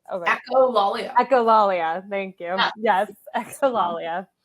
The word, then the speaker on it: echolalia: The Lollia? Echolalia.